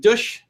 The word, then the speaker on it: Dush: have an entrepreneur named douche rhymes with push who has an awesome